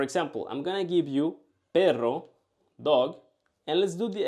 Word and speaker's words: perro: Perro, perro. Try to exaggerate the sound. Perro. Of course, when we say it in Spanish, we don't say perro. But that's gonna help you to say it right.